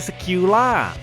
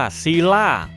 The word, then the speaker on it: Scylla: มี ลักษณะ เป็น อสูรกาย สิล่า เป็น ปีศาจ ตาม ตำนาน กรีก โบราณ นะ ครับ ซึ่ง ถ้า ออก เสียง ให้ ถูก จริง ๆ เนี่ย ต้อง เรียก ว่า ซีล่า ซึ่ง ตำนาน ของ เธอ เนี่ย